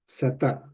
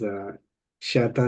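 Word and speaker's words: शत: Sata, right? Sata is here. That is not sa. It's not sha. It is between sa and sha.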